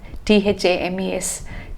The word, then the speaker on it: Thames: summer nights have met crossing the strippling theme thames t-h-a-m-e-s thames is actually pronounced as stems okay it's easy to mistake